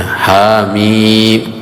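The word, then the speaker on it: حم: Ha seperti ini ya. Ha mim. Kenapa dia panjang ini? karena mad ee arid l sukun ya ha mim begitu cara membacanya.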